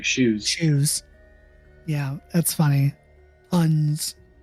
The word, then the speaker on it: Xeoz: I know it's pronounced shoes, but isn't it spelled differently?